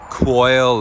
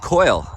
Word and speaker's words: Quoile: It's not pronounced Quoile or Quail, it's pronounced Quoile, as in C-O-I-L.